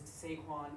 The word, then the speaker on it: Saquon: official here sure sure official pronunciation is Sequon Barker thank you thank you